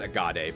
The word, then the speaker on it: Agate: I think it's Agade, but it's spelled Agate.